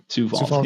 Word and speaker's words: Sioux Falls: Sioux Falls.